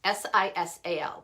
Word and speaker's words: sisal: are called sisal bags s-i-s-a-l pronounced sisal and they're exfoliating bags